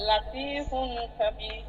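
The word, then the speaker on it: لَطِيفٌ خَبِيرٌ: লাতিফুন খবীর, লাতিফুন, এই জি ফুন, ফুন স্পষ্ট হইল, ফুন, ফুন স্পষ্ট হইল, লাতিফুন খবীর, লাতিফুন খবীর।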